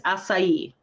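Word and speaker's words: açaí: booster juice is that only okay yeah it's acai yeah that's how they it's spelled a-c-a-i but yes they were trying to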